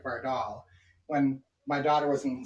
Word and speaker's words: Vardal: And I don't even know how to pronounce it properly, but Vardalia Onions. How did you come up with that name? Why don't you tell everybody about that? So my last name is Vardal.